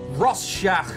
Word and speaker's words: Rorschach: make sure you're okay this is called the Rorschach test 100% scientific that is how you pronounce that I will show you an image